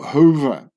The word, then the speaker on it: Huber: And they made it into Hoover, because the U in German is pronounced like a double O, like who, you know.